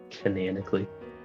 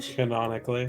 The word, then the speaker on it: canonically: Canonically. Canonically. Canonically. Canonically. Potato. Potato. tomato. There is not a second a cananically. It's pronounced canonically.